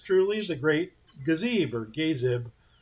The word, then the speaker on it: Gazib: the Great Gazebo, or Gazib. That would probably, if you use the right pronunciation on that, it would be a long A and a soft I. Gazib.